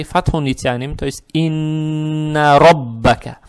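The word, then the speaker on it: رَبَّكَ: Теперь буква ра с фатхой, фатха приобретает оттенок о, ро читается твердо, ро, ро. Далее стоит буква ба, она же удваивается с фатхой, и здесь каф с фатхой, как вот здесь было, только здесь роббука, а здесь роббака.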